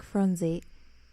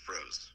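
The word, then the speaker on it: Froese: So in June 2011, 32-year-old Jack Fronze... No. How do you say his last name? I say Froze.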